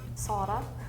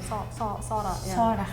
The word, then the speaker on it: Zara: like O more than Sara. Zara. But I think, I'm not 100% sure everyone says that, but just Z, we don't have words with it that much, so we just say like S, I think.